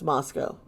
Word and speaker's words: Moscow: Moscow, Idaho is, yes, it's pronounced Moscow.